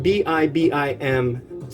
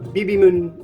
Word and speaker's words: bibim: the non-romanized here there's spelling it b-i-b-i-m space m-e-n but it's not bb moon it's not bb main it's bibi i think oh